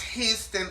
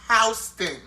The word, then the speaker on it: Houston: It's not pronounced Houston. It's pronounced Houston. Bitch, it's Houston.